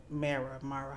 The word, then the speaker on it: Mara: Mara, how do you say it?